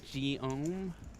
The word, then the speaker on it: Guillaume: It's Guillaume is the correct pronunciation.